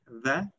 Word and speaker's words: dhe: it can mean and, then it is pronounced like the. Also, it can mean earth, ground, soil, and it would be pronounced as the.